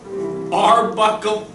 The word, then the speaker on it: Arbuckle: It rhymes with chuckle, but with a B. Bubbleman. Archibald Bubbleman. No, hold your pants up. Oh, Suspenders. Arnold Suspenders. No! Arbuckle Gunky! Arbuckle.